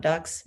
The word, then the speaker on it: Dux: Oh, I'm getting some Duke's Vineyard, DUX. I mean the Latin word for leader, but I think people pronounce it ducks.